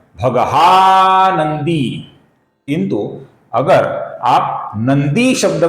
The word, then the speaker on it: नंदी: अब ध्यान से देखिए, सर्वप्रथम नाम है भगवान, न अपूर्ण है, फिर है भगहा, फिर है नंदी, दी दीर्घ है नंदी, फिर है वनमाली, ये